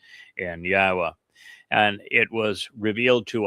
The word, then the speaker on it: Yahweh: The Wah uh is the O sound in Torah.